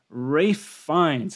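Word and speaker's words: Ralph Fiennes: ever yeah that movie is just fantastic and Ray finds I can finally pronounce his name correctly uh in the menu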